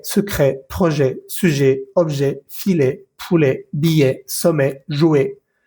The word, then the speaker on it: poulet: Ticket, secret, projet, sujet, objet, filet, poulet, billet, sommet, jouet. No pronuncies la T. La ET al final de las palabras se lee E.